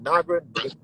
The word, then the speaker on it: Naja: So it's spelled not. It's called Naga, but it's spelled Naja.